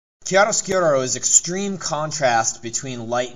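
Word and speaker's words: chiaroscuro: drawing and painting and it is called Kar skuro just kidding it's actually called curcuro kiaro sko is Extreme contrast between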